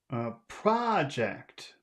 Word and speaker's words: project: Project, project, project. Can you say that word? Project. Where's the accent? Is Project. that on the first syllable or the second syllable?